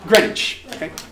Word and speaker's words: Greenwich: to it is spelt it is spelt green witch um but greenwich what i want us